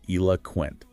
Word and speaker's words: eloquent: The key is that the middle o is almost silent. It's a schwa sound. So it sounds like eloquent.